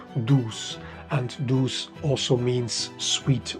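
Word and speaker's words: douze: a play of words in French 12 is pronounced do and do also means sweet or beauty therefore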